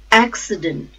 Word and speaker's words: accident: a safe those acceptance accident accident the stress is on first syllable AG accident accountant accountant